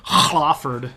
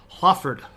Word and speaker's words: Hlaford: And you're like, that sounds like you sneezed at the beginning. Well, that's that breathy H sound. It's not Hlaford. It's not a sound. It's just a breathy. It's Hlaford.